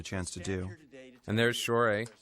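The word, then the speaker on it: Shohreh: And there's Shore, right? That's how you pronounce her name. Shore.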